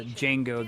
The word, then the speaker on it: Django: And then uh after that he was also in uh uh Django the D is silent which was another Tarantino movie.